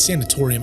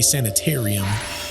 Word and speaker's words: sanatorium: ah Waverly Hill sanor uh sanatorium believe that's how you say it sanatorium I keep wanting to say sanitarium the sanatorium we're standing